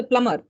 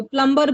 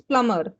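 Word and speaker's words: plumber: बहुत सारे अब इंग्लिश में ऐसे प्रोनाउंसिएशन होता है, जैसे प्लमर, हाँ लोग हाँ, प्लम्बर बोलते हैं, इट्स प्लमर। बी इज समझ। साइलेंट, जैसे आपने वेनेसडे बोला,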